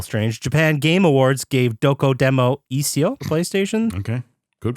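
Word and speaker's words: Dokodemo Issho: Japan Game Awards gave Doko Demo Isio for PlayStation. Okay. Good pronunciation.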